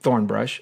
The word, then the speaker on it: thornbrush: So we're, you know, thornbrush, accent on the thorn.